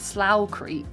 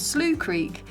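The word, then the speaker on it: Slough Creek: into a place called slooh Creek or I pronounce it slow Creek as a Brit but it's slooh Creek and this was where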